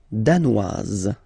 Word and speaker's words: danois: Le Danemark, danois, danoise. Okay, insist on that. Danois, don't pronounce the final S. Danoise, here you pronounce it.